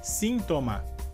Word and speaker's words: síntoma: E a diferença seria que, em espanhol, a sílaba forte dessa palavra seria a primeira, sim. Nesse caso, porque temos a letra I com um acento.